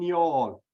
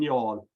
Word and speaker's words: Youghal: And you haven't got a clue what I'm saying, but there's actually a town in Cork, County Cork, called Youghal, which is spelled Youghal. So he likes to say, "See y'all in y'all."